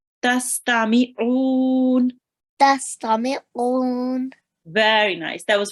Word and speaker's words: تستمعون: Try to read the ayn from your throat. Tastami'un.